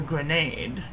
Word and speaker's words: Grenade: Today we're doing a reddish, burgundy-ish, Merlot colored ink Sailor Jentle Grenade, or Grenade, as it is pronounced in the United States.